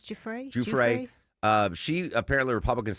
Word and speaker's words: Giuffre: That is where Virginia Giuffre worked, of course.